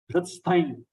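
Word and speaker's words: हृत्स्थं: Hritsthaim. See the pronunciation. Hru. Hriday hru. Hadik rushiru. Hritsthaim. After that, ta, sa, tha. 3 letters are combined.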